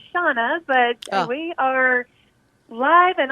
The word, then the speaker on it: Shanna: good morning it's uh it's about shanna and pronounced shauna but we are live and on the air